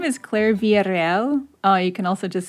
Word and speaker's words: Villarreal: you can say your name the way you pronounce it for me right now sure so my name is claire villarreal oh you can also just say villarreal if that's easier villarreal but v can you